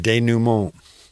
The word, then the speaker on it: denouement: Denouement.